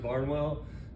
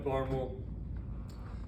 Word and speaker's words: Barnwell: quick pronunciation guide because it looks like it's pronounced Barnwell, but I'm going to be saying Barnwell all the time, so I want you to know what I'm saying.